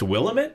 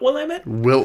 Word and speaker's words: Willamette: It's Willamette and not Willamette.